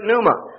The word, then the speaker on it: pneuma: new testament it is the word pneuma spelled out spell with a p p-n-e-u-m-a and both of